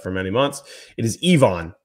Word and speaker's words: Yvan: the road is not yavon kaju I'll raise my hand I've been messing that up for many months it is Ivon so the Y is pronounced like an e ion and then it's